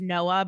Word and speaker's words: Noah: her fuck buddy, Noah, which is Noah, but pronounced Noah, played by.